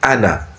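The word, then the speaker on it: أنا: Donc ici, on dit le pronom personnel ana, je, ana qui signifie je, se prononce ana, c'est-à-dire sans allongement.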